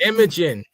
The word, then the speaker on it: Imogen: And I think Imogen, how you say that? All right, Imogen Poots. How you say it? Imogen Poots. Imogen. Sound like a camera.